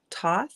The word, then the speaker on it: Thoth: met so far now i always say this guy's name wrong god name toth i call him toth thoughts some people say thoth yep so i've heard both um but his character's